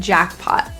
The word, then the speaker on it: jackpot: Both T's in this phrase are pronounced as a glottal T, hit and jackpot. So those T's are not released through the mouth, but kind of held in the glottis, hit.